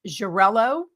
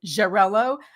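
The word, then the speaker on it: Xarel·lo: Jarello, which is spelled X A L O. So Jarello, Makabo, and Peralada.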